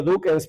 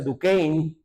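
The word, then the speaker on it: Duquesne: la universidad de eh yo le digo duckens pero creo que se pronuncia ducin y que no sé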